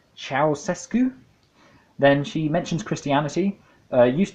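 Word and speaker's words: Ceaușescu: for this guy again I think it's pronounced cows escu then she mentions Christianity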